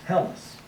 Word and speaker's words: Hellas: We put this in English, looks like this, and with the rough breathing mark there in Greek, it's pronounced like this, Hellas.